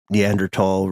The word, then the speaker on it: Neanderthal: yes yes sir yeah I think the age is silent guys dang it and later discoveries followed uh there were neander tal remains found in Ji alter